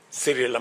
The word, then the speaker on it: Cyril: Your Excellency, my brother President Cyril Ramaphosa, he just explained to me that the correct pronunciation is not what everybody else has been saying.